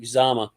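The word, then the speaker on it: Uzomah: Felix in a DK uzama I would say uzama because the CJ is almost felt the same way uh sub rusher extraordinaire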